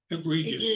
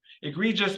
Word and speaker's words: egregious: even over and to tell me if I'm pronouncing this correctly egregious egregious egregious thank you egregious Misty's God forbid for genuine remorse we need